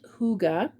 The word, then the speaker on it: Hygge: It's Hygge, and it's pronounced Hygge.